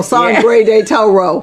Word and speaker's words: Sangre de Toro: I can't roll R, so Sangre de Toro. That's it. That's how you say it.